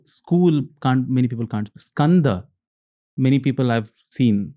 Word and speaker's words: Skanda: many people so School can't many people can't scanda many people I've seen pronounced scand as asand Asanda puran so they the slight changes happen